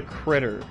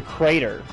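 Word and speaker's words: Krytr: and I thought it was the crater and I thought that was the name of the venue I was wrong on both ends but still still it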